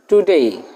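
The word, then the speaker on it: today: আজ এটার ইংরেজি হল টুডেই টুডেই টির উচ্চারণ ঠ এর মত টুডেই আগামীকাল এটার ইংরেজি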